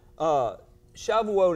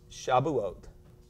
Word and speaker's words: Shavuot: Now, Shavuot is also pronounced Shabuot, just depending on which dialect is speaking it, which pronunciation you approve.